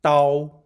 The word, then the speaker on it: 刀: in Oracle bone script the pronun iation of Da is similar to Da in Dow Jones imagine wielding this knife